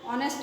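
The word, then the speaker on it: honest: example এখানে আমরা লিখলাম কি হি ইজ এন অনেস্ট ম্যান এখানে এন বসাইছি কারণ এখানে এইচ এর উচ্চারণ হয় না না হয়ে অনেস্ট অর মত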